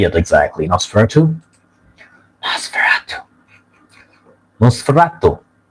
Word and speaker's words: Nosferatu: Is it the proper pronunciation? Nosferatu? Nosferatu. How do you say it exactly? Nosferatu? Nosferatu. Nosferatu. Nosferatu.